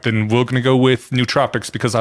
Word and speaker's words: nootropic: I'm pronouncing this right neurotropics so the official pronunciation is no o trop Tropic nootropic um if you speak Greek yeah if you speak Greek the the community usually says nootropic um okay yeah all